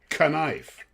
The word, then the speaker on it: knife: But anyway, the proper way to say it, believe it or not, is knife. That is actually the original. All the words with what we call the silent K were in the English language were not originally silent. The K was pronounced.